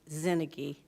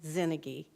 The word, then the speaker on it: Zinnigy: I just wanted to let you know that it's Mike Zinnigy. The pronunciation for Mike, it's Mike Zinnigy.